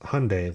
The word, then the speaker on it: Hyundai: Then we have Hyundai, pronounced Hyundai like Sunday, as they would say.